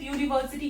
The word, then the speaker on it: university: Same with university, university. H is silent here.